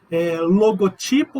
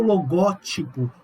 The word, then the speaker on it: logotipo: Logotipo ou logótipo.